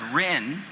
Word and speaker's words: Rin: fans love it as love her as Rin which is the way the child Obito used to say it by the time I showed up notes had come in from afar that said say it rain so I say it Reen and then to this